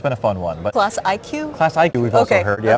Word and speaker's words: Classiq: So I only learned this year that it's pronounced Classiq and not Classiq.